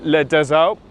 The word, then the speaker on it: Les Deux Alpes: 194 miles to Les Deux Alpes. That's how you pronounce it.